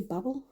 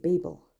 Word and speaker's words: Babel: It's a paperback version of Babel. I know some people say Babel, but in the UK, Babel. Because like Cain and Abel, Babel. If it was Babel, it would be 2 B's.